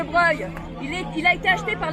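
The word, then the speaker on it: Broglie: Est-ce que vous savez que l'hôtel de Breuil, qui s'écrit B-R-O-G-L-I, mais qui se prononce hôtel de Breuil, il a été acheté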